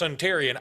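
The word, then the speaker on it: Suntarine: ask him about something can you spell it like sun terrine s-u-n-t-a-r-i-n-e I believe and but it's pronounced suntarian I'm told we will see but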